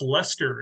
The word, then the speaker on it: Leicester: That's Leicester in the UK.